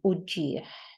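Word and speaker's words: uġigħ: It ends with an ein, which means that it is a h sound, uġieħ.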